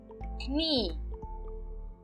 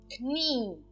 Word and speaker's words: Knie: Então, nós usamos a vogal IE no final de uma palavra. Por exemplo, Knie. Knie. Então, verifiquem, eu não estou pronunciando a letra E. Eu apenas estou falando Knie. Knie. Só o I. O E não é pronunciado.